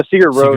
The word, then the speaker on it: Sigur Rós: And is it Sigur Rós? Did I pronounce that correctly? Yeah, Sigur Rós.